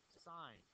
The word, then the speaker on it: sine: The shorthand way that we write it is this, sine of theta. Don't say sin, say sine of theta. That's the language we use in mathematics. And sine of theta is a